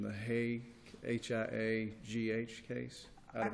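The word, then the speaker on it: Haigh: there's no discussion of the, for lack of pronunciation, the Hay, H-I-A-G-H case.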